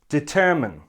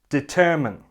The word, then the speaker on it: determine: on the correct pronunciation this word has 3 syllables and the stress is on the second syllable and it should sound like this determine determine the last syllable looks